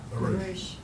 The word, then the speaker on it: barouche: Barouche.